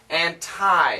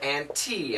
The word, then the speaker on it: anti: four sounds are common my recommendation stick with these two antie as in your tie the neck tie or an te as in a cup of tea those are the best pronunciations ni an that's for real native English speakers when they're talking with each other and maybe debating you can hear that so anti anti both are fine which is more common